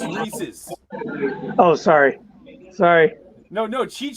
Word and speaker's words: Reese's: Okay, you said it right. Cheech said it wrong. He said Reese's. It's Reese's.